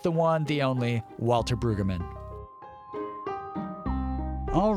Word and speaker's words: Brueggemann: Well, I generally say Brueggemann with an accent on the first syllable, but I don't quibble about that.